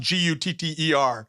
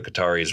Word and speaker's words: Qatar: And I like when NPR had tried to get everyone to say it right, and Qatar. Right. Tried to make Qatar. Yeah. They just pronounce it Gutter.